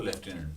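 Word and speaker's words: lieutenant: टुकड़े कर लें, लेकिन उसका प्रोनाउंसिएशन पता होना चाहिए कि स्पेलिंग के लिए ल्यूटिनेंट आप याद कर रहे हैं, लेकिन पता होना चाहिए कि इसको लेफ्टिनेंट बोलना।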